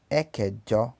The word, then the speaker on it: ẹ̀kẹjọ: Oitavo, ẹ̀kẹjọ, ẹ̀kẹjọ.